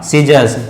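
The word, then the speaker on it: scissors: जैसे for example मैं बात करता हूं, जैसे सी के बाद सीजर, SCISSOR, क्या हुआ? सीजर्स। ठीक है, साइंस, SCIENCE, साइंस।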